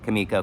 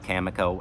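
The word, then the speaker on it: Cameco: is the stock ticker kamiko camoo however I've heard it pronounced both ways uh so yeah uranium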